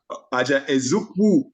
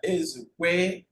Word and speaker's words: Ezukwe: chat for Bright Aja Ezukwu. Aja Ezukwu. Okay, let me go look again. I have to look at the spelling to pronounce it right. Forgive me. Aja Ezukwe. Aja Ezukwe. Aja Ezukwe. Not U.